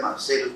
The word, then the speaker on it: Marcellus: En realidad Marcellus, porque así se pronuncia en inglés.